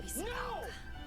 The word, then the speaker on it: Ebisugaoka: I don't think it's ever been this quiet in Ebisugaoka.